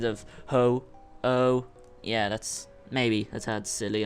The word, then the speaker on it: Ho-Oh: That Pokemon was Ho-Ho, and that was Ho-Oh.